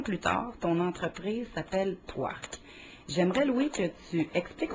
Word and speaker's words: Pwark: et 6 ans plus tard, ton entreprise s'appelle Poirc. J'aimerais, Louis, que tu expliques aux auditeurs ce que fabrique et vend Poirc. Ben, premièrement, Poirc, Mhm.